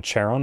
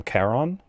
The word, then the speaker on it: Charon: greek pronunciation like they instead of calling the boatman charon they call him caron because in greek there is no soft c sound it's always the hard one so cerberus name is